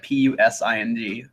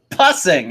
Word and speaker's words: Pusing: P-U-S-I-N-G. Pusing. Pusing? Pusing, because I was like pussing. I was like, no, Caleb, it's 2 S's.